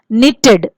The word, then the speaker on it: knitted: again w is silent knitted k is silent let us read and